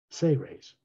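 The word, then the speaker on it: Seras: from the say race s-e-r-a-s pronounced as if it was spelled s-a-y hyphen r-a-y-s say rays because they were responsible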